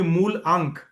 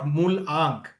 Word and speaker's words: मूल अंक: ये मूलांक जो है, इसको मूल, एक्चुअली किसी ने मूलांक बोल दिया बट इट शुड बी मूल अंक, नॉट मूल आंक।